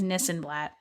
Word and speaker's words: Nissenblatt: i this and that because it rhymes it rhymes with my last name which is nissan blatt no sunblock and those are the best places